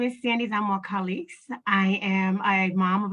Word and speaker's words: Zamora-Calixte: Tonight, we have one candidate, Sandy Zamora-Calixte. Did I pronounce that correct? Yes, you did.